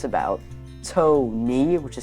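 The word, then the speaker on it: Tokne: And um it's about to knee, which is spelled T O K N E.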